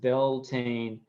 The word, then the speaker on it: Beltane: do on the 20 May first let's see Beltane pronounced Beltane begins April 30th it's sundown and lasts until